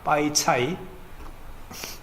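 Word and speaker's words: 白菜: 근데 백채나 백채가 똑같이 중국 발음은요 빠이차입니다. 빠이차이. 발음이 같아요.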